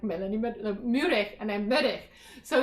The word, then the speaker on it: Meurehg: break and i'm like melanie muric and i'm medic so it's just funny um because even growing up in mexico no one pronounced the name properly i don't pronounce it properly by the way because